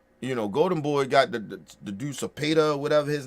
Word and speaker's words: Cepeda: It's Cepeda. That's who it is. Cepeda. Yeah, Cepeda. That's his name. I couldn't even pronounce his name.